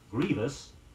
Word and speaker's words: grievous: the ceremony was overwhelming grievous gr ie V o us means atrocious or flagrant avoid using one too many sounds in pronouncing it say it was a